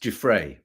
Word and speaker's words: Giuffre: Guiffre, pronounced Guiffre.